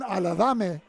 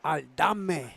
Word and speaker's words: Aldame: Running behind the blocking of Ruben Aladame, or 77. Give me the correct pronunciation, Ruben. Ruben Aldame. Oh, Aldame. Okay. Aldame. It's not Alibaba, not Aladame. It's Aldame. Vic, we're going to have to Aldame.